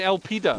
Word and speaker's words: Elpida: I'm not, I'm saying El Pida. Yeah, yeah, of course you are. I did. There's no O in El Pida.